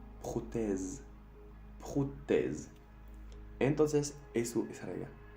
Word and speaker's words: prothèse: Pero también aquí, en prothèse, que es la traducción literal de prótesis. Aquí vemos que tenemos dos vocales. Y como tenemos solo un S a la fin, hace el sonido Z. Prothèse.